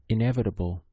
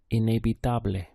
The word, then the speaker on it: inevitable: Notice that the letter E takes on an A sound in Spanish. In a. Then we have the V sounding like a B. So we get the B syllable here.